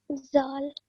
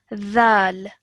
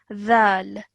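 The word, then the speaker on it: ذال: this is pronounced as dhal. Yeah. Yeah? Zal. Okay, so you're going to take the tip of your tongue and put it to the back of your top teeth. Dhal.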